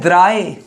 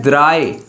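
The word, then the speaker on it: drei: 20 + 3 20 + 3 three को बोलते हैं द्राए। थ्री को बोलते हैं द्राय उन जंजिश उंडाजिश थ्री को क्या बोलते हैं?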